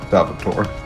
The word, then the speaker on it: Salvatore: Salvatore. The E is silent. Yeah, just like Nura.